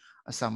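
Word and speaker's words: Psalm: এখানে কিন্তু পি কিন্তু সাইলেন্ট। বুঝতে পারছো? ভাইয়া বোধহয় শুরুতে এর জায়গায় দা বলছিলাম, দাসাম, এটা হবে যেহেতু নামটা এরকমই, সাম অফ লাইফ। আর পি এখানে সাইলেন্ট, পির উচ্চারণ তুমি করতে পারবে না, কারণ পির পরে দেখো কোনো ভাওয়েল নেই।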